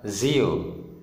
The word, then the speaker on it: zio: Contoh pada kata zio, Z-nya di depan ini dibaca zio, artinya paman, dibaca seperti huruf Z.